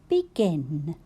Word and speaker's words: begin: And then gin. I can see a letter G. And even though it's followed by an I, in this word, I still say G. Begin.